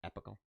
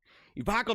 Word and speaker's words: epochal: Is that how you pronounce that? Not epical. Epochal challenge.